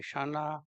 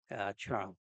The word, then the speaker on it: Ksana: is called chara, and often in English books they will write it as Ksana, where K is silent in pronouncing. So it is closest in English will be shana, or correct will be chara.